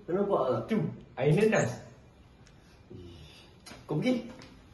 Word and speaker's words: nanas: Air nanas. Kau pergi nenas. N a s nenas. Bukan. Berapa kali dah kita perbincangkan nanas. N a n a s. Nanas. Syukri.